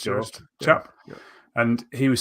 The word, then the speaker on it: Joost: It is pronounced Joost.